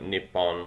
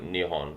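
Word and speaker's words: 日本: Obviously, Nippon is a Laotian version of what Japanese would call their own country, although I think in Japanese it's actually pronounced like Nihon, which I believe means source of the sun, hence, of course, their flag.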